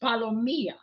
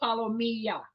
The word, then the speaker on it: palomilla: good at pronunciation it's palomia think of tortilla LL is y so see you just learned something else an ll in Spanish is always y so palomia just think of that